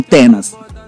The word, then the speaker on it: Tennaz: Olha, eu sempre tive dificuldade em pronunciar o teu nome, é mesmo Tenas.